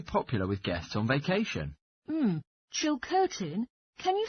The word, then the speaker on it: Chilcotin: which is very popular with guests on vacation chill curtin can you spell it c-h-i-l-c-o-t-i-n a local hotel where is it